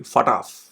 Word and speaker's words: FATF: So now, it seems that the Financial Action Task Force, FATF, Financial Action Task Force, it's actually FATF, it's pronounced that way, is leaning towards adding UAE to its grey list, okay?